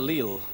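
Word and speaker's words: leal: called land of the leil the word le uh is spelled in Old Scots l e a l and uh it means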